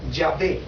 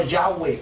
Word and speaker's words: Yahweh: es mi nombre y sabéis en hebreo que es yahvé o Yahweh porque no tiene vocales no Y para un judío es un nombre impronunciable por eso después tuvieron